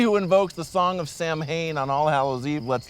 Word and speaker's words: Samhain: He who invokes the song of Sam Hain on All Hallows Eve lets loose the riders of hell with a symphony of the damned! Sam Hain, the same mispronunciation that's featured in several of the Halloween movies.